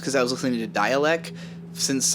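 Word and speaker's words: Dälek: i was listening to dialect since like the 2000s and there isn't it pronounced dalek like that's a mc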